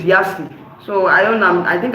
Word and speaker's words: Yace: me I was saying it's not yes, it's Yasi.